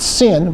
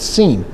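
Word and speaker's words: שׂין: If it was on the left side, it would be called seen. Not sin, but scene.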